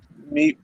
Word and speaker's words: Maeve: Mifi in her Mive. alternate. Maeve? Is it Yeah, yeah. Meavy or Maeve? Maeve. Mifi. I just Maeve. pronounce it as I like Mive Maeve. or Maeve.